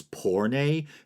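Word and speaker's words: πόρνη: it being pornari, but I think it's porne, Porne. I'm not sure if I'm pronouncing the E correctly.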